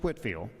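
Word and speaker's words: Whitefield: And we pronounce it as he pronounced it, Whitfield.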